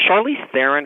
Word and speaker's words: Charlize Theron: um bombshell yes and is it is it charlize theron is that how her name is pronounced yes she looked just like megan kelly